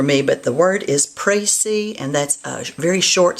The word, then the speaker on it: précis: But it's French, P-R-E-C-I-S, with an accent over the E, and it's pronounced précis.